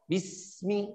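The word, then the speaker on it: بسم: Bismi. Silakan Ibu. Seperti itu. Bismi. Huruf sinnya dialirkan. Bukan Bismillah, Bismillah, udah Bismillah, be. Sinnya pendek lagi.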